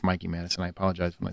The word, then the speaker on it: Mikey Madison: me um Mikey Madison I keep calling her Mickey and it's not Mickey it's Mikey Madison I apologize when I